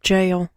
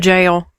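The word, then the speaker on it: gaol: mhem gal in Dublin oh it's just pronounced jail yeah the g g a o l oh yeah yeah yeah yeah it's pronounced jail um in addition to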